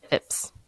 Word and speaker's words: Phipps: Phipps.